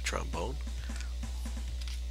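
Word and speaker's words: Tron Bonne: here's some stuff from Tron bond or trombone I want to say proudly trombone that's how you pronounce it closer bots and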